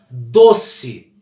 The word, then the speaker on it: doce: Doce. Qual que é a sílaba mais forte da palavra doce? Doce. Olha lá. Doce. O si é fraquinho, então é uma paroxítona.